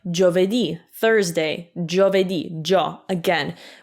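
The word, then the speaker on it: giovedì: would make jaw like jo vedi thursday jo vedi jo again we don't pronounce the i because again it's just there to soften the g it's not there to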